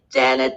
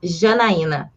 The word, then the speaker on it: Jana: name correct that's why janet now we are going with jenna makes it easier for everyone no problems but the right way to pronunciate my name is jana yes but see even